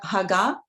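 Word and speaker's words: הגה: last letter silent. So haga. Yes, the hey, when it's at the end of Haga. the word, and when there is no vowel, the hey is silent.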